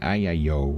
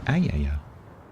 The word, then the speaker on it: ayaya: He was saying like ayayo or something. Ayayi. It's ayaya. Ayaya.